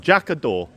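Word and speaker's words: Jac y Do: So, Jac a Dor. That's what I'm told, Jac a Dor is how you say it.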